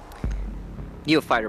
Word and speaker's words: Neophyter: Neophyter, by the way. I said Neotypher again.